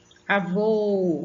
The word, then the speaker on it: avô: O acento vai sempre deixar a sílaba mais forte. Avô, avô, você vai ver que é o vô que você puxa.